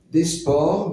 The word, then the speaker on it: desport: pioché dans l'ancien français ça se disait pour pardonnerez ma façon de prononcer desports mais le S a sauté donc Desport est-ce que le mot